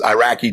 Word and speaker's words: Iraq: We never even pronounced the country right. I mean, we called it Iraq. It's not Iraq.